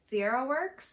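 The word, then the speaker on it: Theraworx: my best to say it right but it's Sierra works and it's t-h-e-r-a-w-o-r-x um but it is amazing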